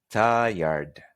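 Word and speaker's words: tired: palabra cansado es ayer se escribe tire pero no se dice tire se dice hay arte es como decir hay la primera parte la otra es llorar de ayer y se tiene que escuchar la de al final si ayer te puedes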